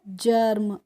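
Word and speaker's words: germ: बताया था third rule, जी ई का हम प्रोनाउंसिएशन ज करेंगे, तो ये हो गया ज, और आर एम का हो गया अर्म करके, तो क्या हो गया, जर्म।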